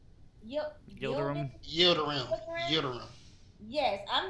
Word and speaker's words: Yildirim: Litamir? Yildirim.